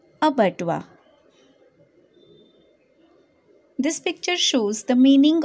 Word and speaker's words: abattoir: a b a double t o i r ubatwa this picture shows the meaning of a bedwa